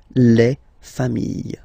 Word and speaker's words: familles: Just add this final S, and you get the plural form, les familles, okay? Remember, chien, singular form, chien, same pronunciation, but you put this S, okay? Final S, not pronounced.